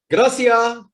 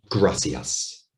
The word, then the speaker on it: gracias: now they very often say things like gracia when in fact it's supposed to be gracias not so heavy on